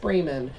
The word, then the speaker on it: Braman: my name is bremen uh and the last name is spelled like bra man but it's pronounced bremen um i have a